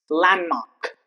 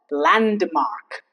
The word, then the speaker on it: landmark: It's landmark. It's not landmark. While pronouncing you should say landmark.